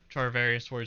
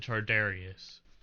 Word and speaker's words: Charvarius: reporters in this video mispronounced Charvarius name and said Chardarius, which added more fuel to the fire for internet trolls.